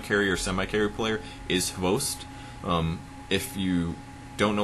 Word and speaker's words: XBOCT: their typical hard carrier semi- carry player is host um if you don't know what I'm saying it's xboct it looks like Xbox but uh it's pronounced it host um but he's not there he's their typical